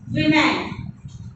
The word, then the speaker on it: women: Here, women. You have to pronounce like this way. Women.